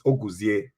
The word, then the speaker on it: Oguzie: who i'm talking to his name is oguzi i want to be able to pronounce it properly is it or as a person yes well the the the correct pronunciation is augustiae that's the pronunciation the correct word yes nice